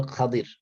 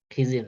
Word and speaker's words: খাদির: প্রথমত বলে নিযে খাদির আমাদের বাংলাদেশে যাকে আমরা খিজির নামে চিনি খিজির কোন শব্দ নাই আরবিতে হল খাদির খা দর খাবর দরের মধ্যে উচ্চারণ হবে খাদির খিজির না খাদির খাদির আলাইহিস সালাম উনি